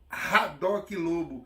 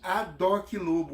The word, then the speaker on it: Haddock Lobo: Nós não pronunciaríamos Haddock Lobo, e sim Adoc Lobo.